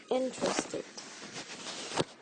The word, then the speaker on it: interested: or which words have silent vowels like interested interested in this word which settlement is a stressed